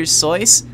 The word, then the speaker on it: Seuss: Seuss. That's how it's pronounced, by the way. Seuss, not Seuss. It was just easier to say. Seuss was just easier to say in English.